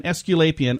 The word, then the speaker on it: aesculapian: esc UL Apia n aesculapian or a esc so like the a is silent a ESC u l